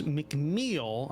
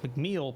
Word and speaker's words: McMeel: We're playing Zweihander, a Grim and Perilous RPG published by Andrews McMeel. I did double check that, so that is how you pronounce it. McMeel Publishing, and designed by Daniel D.